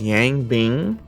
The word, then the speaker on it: Yang Bing: Developed by, I believe his name is pronounced Yang Bing, under Alti-Zero Games.